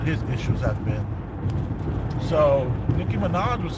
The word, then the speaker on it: Nicki Minaj: And what's also interesting is that Nicki Minaj, is that the way to say her name?